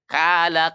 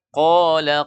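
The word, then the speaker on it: قال: Kala kailun. Ya, walaupun makhraj sebenarnya kala ka, itu huruf kaf. Ya, yang benar qala qa. Nah, itu harus tebal bacanya. Karena kalau dia tipis itu huruf kaf.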